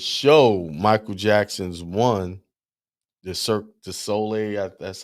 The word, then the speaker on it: Cirque du Soleil: We also saw this show, Michael Jackson's One, the Cirque du Soleil. That's how you pronounce it.